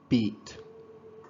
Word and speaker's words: beat: yes or obviously okay notice here again beat and bit this one is beat beat it's strange but beets